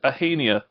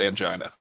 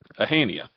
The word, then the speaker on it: Ahania: That is Ahania. We'll be cracking down on people who pronounce it angina. Ahania.